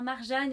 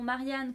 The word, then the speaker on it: Marjane: un donc c'est marjane ça se prononce bien marjane et non marianne comme j'avais dit dans les vidéos précédentes et j'ai aussi eu